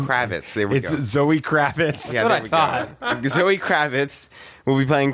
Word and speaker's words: Kravitz: will be playing this young batman now zoe cravitas kravit can you can you do not even know how to pronounce her name kravitz zoe kravitz will be playing catwoman selena kyle